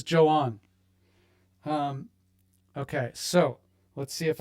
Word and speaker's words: Joan: Now, not Juan and not Joan, spelled like Joan, but that's Brit's mom. This is Joan.